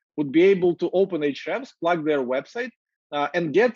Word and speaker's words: Ahrefs: call themselves SEO, would be able to open Ahrefs, plug their website, and get some actionable insights